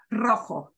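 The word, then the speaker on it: rojo: in mind if the r leads off the word it will get that same kind of strong Trill so here's another color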